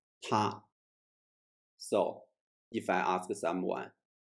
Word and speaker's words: 他: Yeah, the Chinese pronunciation of he and she are both 她.